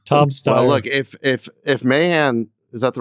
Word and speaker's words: Mahan: Well, look, if Mahan, is that the right way to pronounce his name? Yeah, Matt Mahan.